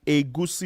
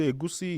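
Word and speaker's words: egusi: Moving on, we also have a goosey soup. So agusi is spelled e g u si.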